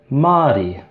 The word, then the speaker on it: Māori: So muddy would be the short A, and Māori would be the longer A.